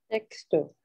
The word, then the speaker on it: sexto: Sexto. Sexto. So the X in Spanish is like an S in English. Okay. right? So they say sexto.